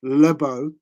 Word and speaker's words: LeBeau: that's a tough name my surname's LeBeau okay Lebo that's how it's pronounced um so at school